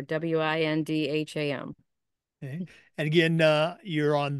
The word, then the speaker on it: Windham: And Windham Central has a silent H in there, W-I-N-D-H-A-M.